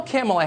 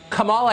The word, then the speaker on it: Kamala: um hosts on Fox her name is pronounced comma like the punctuation mark La comma okay seriously